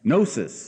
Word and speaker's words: gnosis: want to spell that gnosis is spelled with a G but it's silent and the Greek word for knowledge Gnostic again silent G Big G silent g means we seek knowledge